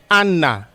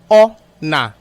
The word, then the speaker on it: honour: And the word is not Anna, it's O-na, O-na. The H is silent, it's pronounced as if it's an A.